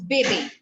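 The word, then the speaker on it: bébé: it out b-e-b-e no both the e's will be pronounced as a today yes very good the pronunciation goes baby okay the pronunciation is baby yes what do you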